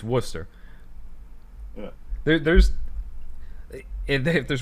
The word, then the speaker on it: Worcester: people say yeah or warchester people will say sometimes there's not there's not an h in there but thanks to worcester